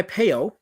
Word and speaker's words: Peyo: I am pronouncing it correctly. For sure. It is definitely Peyo, but that wasn't his real name.